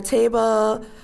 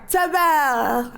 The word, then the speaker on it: Tabell: And on that topic, I want to take a moment to thank Tamara Table. Did I say that right? How do you say it? Where? Tabell.